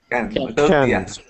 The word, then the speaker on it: Cannes: Next, we talked a little bit about, and I always say this wrong, Ludovic, how do you pronounce this in French? Cannes.